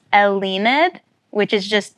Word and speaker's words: Elleinad: band you got say say it slower and spell it for me what is it so it's elid which is just d spelled backwards look at